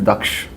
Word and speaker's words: Daksh: For example, our axle is called DAX1, which is drive axle, but the Sanskrit pronunciation is Daksh.